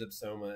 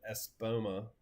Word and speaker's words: Espoma: Actually, I don't use Epsoma and Espoma. I keep saying it wrong.